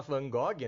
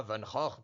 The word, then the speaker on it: Van Gogh: O homem não pode nem falar Van Gogh, né? Ele tem que falar Van Gogh.